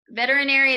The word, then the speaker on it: veterinary: veterinary assistant veterinary assistant veterinary is a little bit hard it has a lot of different vowel sounds in it so let's do it syllable by syllable repeat after me vet vet er e e and we put it all together veterinary okay good this one is